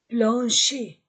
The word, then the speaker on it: plancher: une fêtre une porte un plancher je ne prononce pas le r plancher un plancher un plafond un plafond je ne